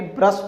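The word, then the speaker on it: brush: अच्छा फ्रेंड्स, आपको एक बात ये चीज़ समझ नहीं आएगी, ब्रश कहते हैं कि ब्रुश कहते हैं। तो फ्रेंड्स देखिए, रियल में अगर पढ़ा जाए तो इसका जो प्रोनाउंसिएशन है वो ब्रश ही होता है।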